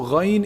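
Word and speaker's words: غين: Ghayn is pronounced from the highest part of the throat, the top part of the throat.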